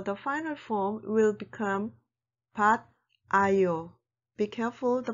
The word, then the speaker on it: 받아요: So the final form will become 받 아요. Be careful the pronunciation 받아요.